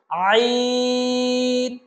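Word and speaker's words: عين: থেকে আমরা উচ্চারণ করেছিলাম ঠিক একই জায়গা থেকে উচ্চারণ করতে হবে অর্থাৎ কণ্ঠনালীর মধ্যখান থেকে আমরা কণ্ঠনালীর মধ্যখান থেকে বলেছিলাম হা ঠিক একই জায়গা থেকে আমরা বলবো আইন আইন বলুন আমার সাথে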